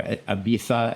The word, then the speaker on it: Ibiza: I was in actually Ibiza, and I wanted it, or Ibiza as they pronounce it.